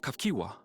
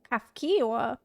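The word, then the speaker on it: Cahciua: by the name of Kafkiwa. Oh my god, I'm saying that super wrong. Kafkiwa. Kafkiwa. Oh my god, there's no way I would have guessed that's how you say it.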